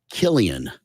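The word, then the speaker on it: Cillian: lost it anyway uh it's spelled c i l l i a an last name Murphy and it's Killian oh notan ow Killian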